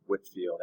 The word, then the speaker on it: Whitefield: ways of christianity the second guy is george whitfield and i know it's spelled whitefield but he pronounced it at woodfield